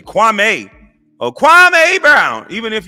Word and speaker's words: Kwame: So I want to go on record to say, Stephen A., how my name is pronounced, you say it like this, Kwame.